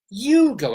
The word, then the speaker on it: Hugo: Hugo, H-U-G-O, not Hugo like those little Yugoslavian cars.